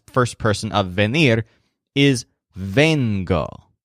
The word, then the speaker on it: vengo: The word for I come, the present tense first person of venir, is vengo. So the stress is on ven, like Joel's veins, when he comes into the store.